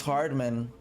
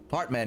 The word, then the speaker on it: Hartman: She's trying to close in on P8, which is Max Hardman. Hartman, yeah, Dutch dude. Hartman, I have to say it correctly.